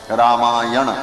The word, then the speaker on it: रामायण: अब वो व्याकरण के नियम से ना कोणा हो जाता है, रामायण ऐसा उच्चारण किया जाता है।